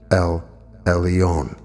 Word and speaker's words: El Elyon: temple blessing, El Elyon, meaning the Most High, pronounced El Elyon.